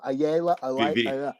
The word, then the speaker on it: Ayala: Ayala.